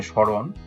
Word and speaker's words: স্মরণ: এখানে স্মরণ, মোটা উচ্চারণ হয়নি কিন্তু এখানে চন্দ্রবিন্দু আকারে মোটা রয়ে গেছে।